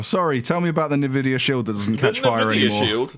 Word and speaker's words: Nvidia: the switch and the Nvidia shield than the video do I not say it right is Nvidia oh right I've always said in a video that's Nvidia Wow yeah tonight II just